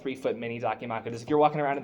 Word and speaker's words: Dakimakura: How do you pronounce it? Dakimakura.